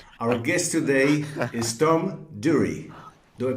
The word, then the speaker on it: Durrie: Our guest today is Tom Durrie. Do I pronounce it correctly, Tom? Tom Durrie.